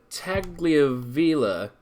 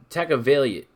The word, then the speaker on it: Tagovailoa: Tua Tagliavella I'm not quite sure how to pronounce that, so forgive me on that one. It's Tagovailoa. Tagovailoa.